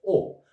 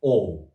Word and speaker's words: o: But in Turkish just "O". But be careful to pronunciation. Not "OU". O.